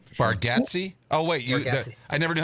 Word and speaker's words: Bargatze: Oh wait, Bargatze.